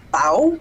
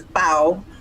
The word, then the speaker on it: pão: So like the word for bread is pão, P-A with and I never remember.